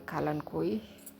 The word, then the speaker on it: Kalanchoe: Now let's move on to my Kalanchoe, the panda's paw, or the Kalankoi, however you want to pronounce.